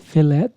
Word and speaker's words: fillet: If I said fillet, I would get hell. She give you You proper. know that T is silent, right?